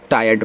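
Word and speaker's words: tired: ट्रायड नहीं टायर्ड पढ़ो। ये शुद्ध है।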